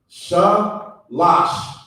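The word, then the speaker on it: שלוש: So for the number 3, it's going to be pronounced shalash.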